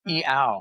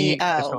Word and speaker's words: Iao: And then the I's in Hawaii are pronounced like E. So it's E-ow, Okay. A-O. So Iao.